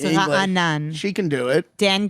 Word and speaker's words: Raanan: Listen, but it's a question of whether it's 2 syllables or 3. It's 2. No, it's 3.